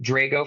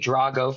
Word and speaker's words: Drago: My heritage is Sicilian, so it's pronounced Drago for me, Drago for Russian.